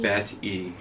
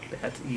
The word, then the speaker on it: Bat-E: Bat-E. Bat-E. That's how we'll spell it. B-A-T-E. All right. Like Wall-E, Bat-E.